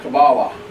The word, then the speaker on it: Kabbalah: K-A-B-B-A-L-A-H. Kabbalah. How it's pronounced. Or you've probably heard the word Kabbalah.